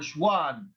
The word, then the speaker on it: Schwann: that another scientist called span or schwann is he is from germany so you can say if you study germany w is their pronunciated v decided that also all living